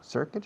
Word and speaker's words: circuit: Short is corto, circuit is circuito. Fijaos en la pronunciación, circuit. Se escribe circuit, pero no digáis circuit, sobre todo los ingenieros. Circuit, porque nadie os va a entender.